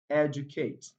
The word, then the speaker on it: educate: But apart from that, words that contain the suffix or end with the suffix ate are often stressed on the third syllable from the last.